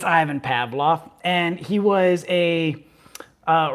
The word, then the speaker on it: Ivan Pavlov: about ivan pavlov now in the video i pronounced it as yvonne pavlov it's ivan pavlov and he was a uh russian um not